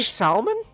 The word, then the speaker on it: salmon: What do you mean, What, do you not say salmon? It's pronounced salmon. You don't pronounce the L?